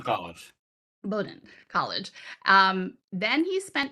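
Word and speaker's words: Bowdoin: I'm Bowden College. Bowden College.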